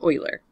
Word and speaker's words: Euler: the natural number funny name here yes it's pronounced Euler okay wheeler poor guy I'm sure that it